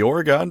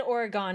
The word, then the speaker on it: Oregon: The game The Oregon Trail, the sponsor of this video.